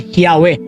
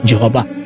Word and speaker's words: Yahweh: Again, according to the early Greek writers of the Christian Church, the correct pronunciation of the YHWH, yung pangalan ng Diyos ay Yahweh at hindi Jehovah.